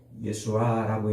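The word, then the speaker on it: ישוע: 여호수아를 콕 찍었잖아요 근데 재미있게도이 여호수아 헬라어 히브리어로 예수와라고 이렇게 발음하는데 그걸 우리말로 이제 여호수아 이렇게 번역을 해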